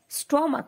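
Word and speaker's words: stomach: এবার তৃতীয় নিয়ম, কিন্তু যখন সিএইচ এর উচ্চারণ অর্থাৎ চ এর উচ্চারণ কিন্তু আমরা কর মতো দেখছি তখন কিন্তু নাউনটির শেষে শুধুমাত্র এস যোগ করতে হবে। যেমন মোনার্ক মোনার্কস, স্টমাক স্টমাক্স। এখানে সিএইচ চ কিন্তু হয়নি, এখানে ক হয়েছে।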